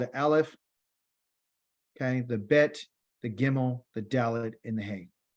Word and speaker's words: Bet: The second letter is going to what they call the Bet. On your left-hand side of the screen, it's spelled B-E-T, like, place a bet.